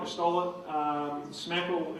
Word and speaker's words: SMCAKL: to stall it um smackle is the the U strangely pronounced hashtag and as you'll see